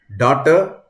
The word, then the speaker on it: daughter: Daughter and laughter are spelled with the same letters in the last AUGHTER, but they are pronounced differently.